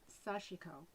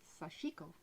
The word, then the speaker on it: sashiko: Now, you'll hear it in the United States pronounced sashiko. Okay. But when I listen to a Japanese pronounce it, it's sashiko.